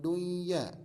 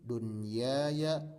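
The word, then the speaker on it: دنيا: Jadi bacanya bukan buya, bukan duya, bukan siwa atau qiwa, tidak. Tapi ini baca seperti adanya. Bunyanun, dunyaya, sinwanun, qinwanun.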